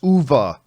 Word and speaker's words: Uwe: said Uwe Boll, but apparently it's pronounced Uva, as if Uva. it's a VA on. It's as if it's written UVA.